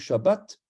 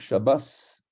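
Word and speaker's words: שבת: ashkénaze, donc du nord, on ne va pas dire Shabbat, on va dire Shabbas, Shabbos, parce que le tav se prononce S.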